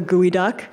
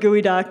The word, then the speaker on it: geoduck: say much um but it's spelled geoduck even though it's pronounced goo duck which is both appropriate